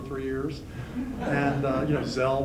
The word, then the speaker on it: Zell: years and you know gel which rhymes with hell but it's been great